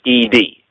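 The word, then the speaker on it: עד: They pronounce it aid, A-Y-D, because of a pointing on the ayin, the Hebrew letter, but it's written in the English as E-D. You know, it's ed or id, right?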